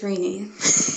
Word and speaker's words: Renee: So, Ted, and I'm gonna pronounce it wrong. Can you do it one more time for me, please? It's Rainy.